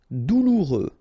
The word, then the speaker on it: douloureux: Douloureux, remember, final X not pronounced, so you get this OU together, ou, douloureux, douloureux.